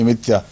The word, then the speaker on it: امتیا: بن متا کہتے ہیں، یہ متیا لکھا ہوا ہے، امتیا یہی تلفظ ہے اصل، ہم تو متا ہی پڑھتے ہیں نا، نہیں یہاں بائبل میں امتیا، یہ ان کا پروننسیشن ہوگا کوئی ہیبرو تلفظ۔ خداوند کا کلام یونا